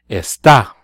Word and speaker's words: está: Usted, él, and ella would be está, and there is a written accent on the A.